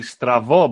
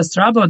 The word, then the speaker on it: Strabo: And if you pronounce the B in the correct Greek, it would be Stravo, but Stravo means crooked.